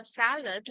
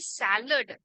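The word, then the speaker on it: salad: करते है ठीक है आता इथे सॅलड आणि सलाद असे दोन प्रोनाउंसिएशन याचे होतात सो जे इतके सो जे युएस म्हणजे सो एक अमेरिकन सो इथे सॅलेड हे एक अमेरिकन प्रोनाउन्सिएशन आहे आणि जर तुम्ही आणि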